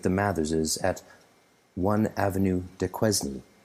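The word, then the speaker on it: Duquesne: mathers's at one avenue de quezny as some if you want to pronounce it like an english speaker one avenue de quezny though yates planned to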